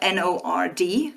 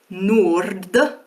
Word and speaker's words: nord: One of them ends in a normal D and the other in a retroflex D.